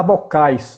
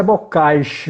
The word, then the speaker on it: Bocage: encontrei texto de Bocage que na época um chamava bocais né E na verdade a pronúncia Bocage mesmo que o do Rio de Janeiro que chega muito na